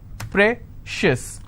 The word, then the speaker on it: precious: on corn conscious okay precious how many syllables again precious i will stress on prey same thing applies for